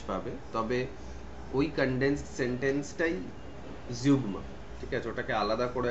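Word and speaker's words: zeugma: অন্যভাবে বলা হচ্ছে ঠিক আছে আচ্ছা তারপরে হচ্ছে জিউগমা চার নম্বরে রয়েছে উচ্চারণটা জিউগমা জিউগমা টা কি জিনিস জিউগমা হচ্ছে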